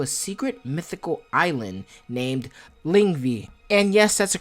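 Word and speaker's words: Lyngvi: In the OG mythology, he was taken to a secret mythical island named Lingvi. And yes, that's a correct pronunciation because I looked it up, damn it.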